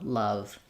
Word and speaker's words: love: Love. Also using another word with the h sound. Much love. Some love. Summer love. Um to be able to match that uh sound of the vowelwah that's in love.